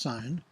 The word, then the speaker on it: sine: Another word for chord is sine, which is abbreviated SIN, but still pronounced sine.